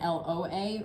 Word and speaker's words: lwa: It is alternatively spelled LWA and LOA, pronounced Loa. Because the Haitian Creole patois is more phonetic and auditory than it is specific ways of spelling things.